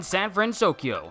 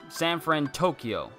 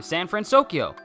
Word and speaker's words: San Fransokyo: Caribbean next and then San fransokyo so Sam friend Tokyo I can't no I said it right the first time San fransokyo huh what do you